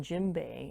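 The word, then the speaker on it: djembe: now what i'm playing here is an african gym bay it's spelled d-j-e-m-b-e it's one of the form of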